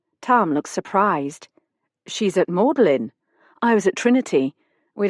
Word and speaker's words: Magdalene: Magdalene College, I'd quickly learned, is pronounced Mellin. Something to do with the pronunciation of vowels in the Middle Ages.